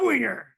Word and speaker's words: Winger: Tom Jewell and Winger.